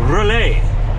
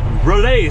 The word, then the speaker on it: Raleigh: street tipped in winnipeg it's pronounced relay relay street it's spelt just like raleigh in north carolina i've got raleigh so